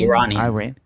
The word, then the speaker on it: Iranian: I say Iranian. Iranian. Thank you. Okay. Iranian David and born I Muslim.